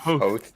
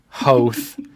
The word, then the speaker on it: Hoth: and Hoth. Oh, Oath. Yep. Oh, Yeah. Hoth.